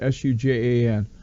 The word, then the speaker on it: Sujan: And Neil and I think it's Sujan is how I pronounce it, Sujan, have put this together